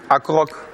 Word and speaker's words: accro: Accroc. Accro, on ne prononcera pas le C, soyez gentils.